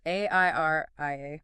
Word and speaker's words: Airia: ARI, pronounced AIRIA, provides the necessary zero-trust security posture management to ensure your enterprise agents don't trigger massive legal exposure.